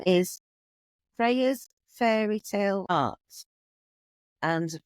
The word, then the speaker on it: Freyja: um my name is Freya fairy tale art and Freya is spelled with the J so it's y j a so it's a a little bit different but it's more Germanic spelling so yeah so if